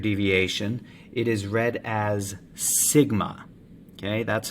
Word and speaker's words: sigma: symbol for standard deviation it is read as sigma okay that's how you pronounce that symbol sigma in this equation up